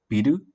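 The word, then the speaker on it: ビル: If you do not hold the sound on the first syllable, biru, that means building or build. But if you hold the first accent, or the first syllable, biru, biru, that is beer. That may appear later.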